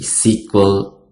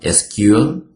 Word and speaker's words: SQL: the difference between a sequel and no sequel so someone is pronounced like a sequel SQL or you may pronounce like sequel okay so in this